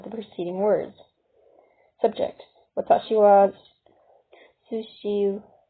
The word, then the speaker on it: は: When the character wa functions as a topic marked particle, it is pronounced wa instead of ha.